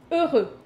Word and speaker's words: heureux: I know the H is silent, so E and U together mm-hmm. means E. E. Heureux. C'est bien. Ah! Heureux.